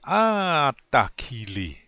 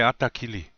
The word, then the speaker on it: atakili: Normally, you say it like that. Ata. You kind of elongate that a, yeah? The first one. So, you say atakili. That's how you say it. You don't just say atakili.